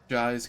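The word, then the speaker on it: Jae: If Vladime is not responsible for the disappearance of Jai's cargo, the fact that she pronounced her name Jai is jarring to me. Uh, I will try to remember to pronounce it that way.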